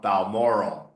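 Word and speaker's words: Balmoral: revive cigar far Laurel Bal moral not Bal moral Bal moral because it rhymes with Laurel mind mankind ballet Chalet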